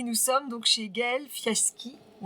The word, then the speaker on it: Fiaschi: Et nous sommes donc chez Gaëlle Fiaski, on prononce comme ça.